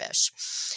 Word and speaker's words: FISH: test it was it's the acronym is fish F I should know this I'm not going to do the acronym right and the words are whoa but it's it's pronounced fish okay and they were